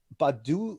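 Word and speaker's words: Baddoo: some great guys and i love how you pronounce his name it's akili badu badu badu badu yup it's the long-lost brother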